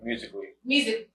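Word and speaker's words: Musical.ly: Musically.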